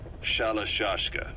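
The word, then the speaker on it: Shalashaska: Someone must have known about that, because somewhere along the line, Shashka got stuck on the end of Sharashka. The guerrillas were using the name amongst themselves, and by the time I got to hearing about it, pronunciation had wound up as Shalashashka.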